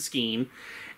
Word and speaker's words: skene: You can remember that easily. It rhymes. Machine hides behind the skene.